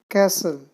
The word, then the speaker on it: castle: do frightened afraid scared castle t is silent there chased rain after next